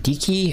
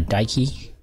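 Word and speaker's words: Dike: that thread has gonna bring in Dickie or some people call her Daiki she stood daughter Athena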